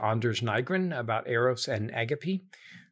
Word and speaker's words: agape: In part, it's a response to Anders Nygren about Eros and Agape. That's how Lewis pronounced it, by the way. We usually hear in this country say agape, but agape is how he pronounced it.